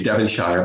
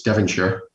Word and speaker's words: Devonshire: devon um you know we would say devonshire but it's devonshire in uh in great britain she broke in and